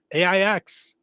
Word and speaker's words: Aix: Christine says there's Aix, AIX, pronounced Aix, a few miles north of Rensselaer on 231.